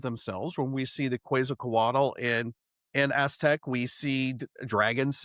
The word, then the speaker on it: Quetzalcoatl: So she could be talking about the history of themselves when we see the Quetzalcoatl in Aztec.